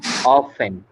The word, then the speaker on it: often: Often. T, ma'am. often, T is T. silent, so write T here।